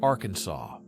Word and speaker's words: Arkansas: It must be pronounced with a silent ending, like Arkansas This requirement arose from the 1881 resolution to resolve a dispute between two U.S.